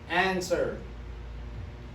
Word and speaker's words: answer: First one, answer. Answer. You don't hear the W.